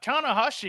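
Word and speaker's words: Tanahashi: yeah and tana hoshi look i said it right tana hashi there you go he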